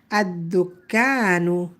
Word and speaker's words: الدكان: The lam is silent. الدكان. الدكان.